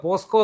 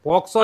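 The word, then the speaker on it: POCSO: പോസ്കോ എന്ന് പറഞ്ഞു ഇടയ്ക്ക് ഇടയ്ക്ക് പറഞ്ഞു. പോക്സോ അത് നമുക്ക് അതെന്തോ പറഞ്ഞ അതല്ല അപ്പൊ തന്നെ ഇതല്ല ഇംഗ്ലീഷ് വാക്കുകളുണ്ട്.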